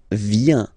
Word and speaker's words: viens: So the first form is je viens, je viens, okay? Remember this I, viens, viens, and then this nasal final S not pronounced.